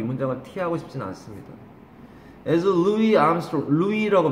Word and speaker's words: Louis: As Louis Armstrong, Louis라고 발음해요.